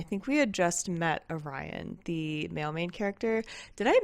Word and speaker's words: Orion: I think we had just met Orion, the mail character. Did I mispronounce his name in the last clip? I hope I didn't, but if I did, his name is pronounced Orion.